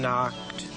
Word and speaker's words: knocked: toad house he can knocked the K is silent she's just keeping the N company while he doesn't talk so it's he knocked on